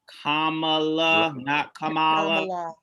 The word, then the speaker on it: Kamala: and for the record can we say her name right it's kamala they don't even want